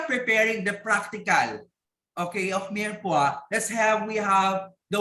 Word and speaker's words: mirepoix: Okay, pa-pronounce nga po mirepoix.